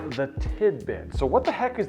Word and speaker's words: Tidbyt: box this is the tidbit it's spelled TI D B YT tidbit and it's a retro